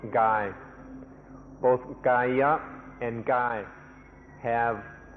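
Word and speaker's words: กาย: The original word the Buddha used was Gaya, and this word also occurs in Thai and is pronounced Gai.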